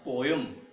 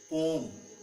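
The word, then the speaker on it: poem: इट्स नॉट पोयम इट्स पोम इट्स पोम I need to iron my clothes not iron मुझे अपने कपड़े स्त्री करने हैं।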